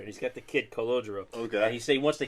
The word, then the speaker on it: Calogero: It sounded a little more Italian the way he said it. That's why He I say said. congelado, which means frozen in Spanish. I only, honestly, I only heard it the way the Italians do said it, but I know they don't enunciate every syllable.